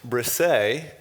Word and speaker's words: Brissa: uh his name is spelled b-r-i-s-s-a and it's pronounced brisay and so i have to ask where what